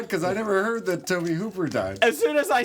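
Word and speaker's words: Tobe Hooper: Because we just kind of glazed over the fact that you called him Toby Hopper.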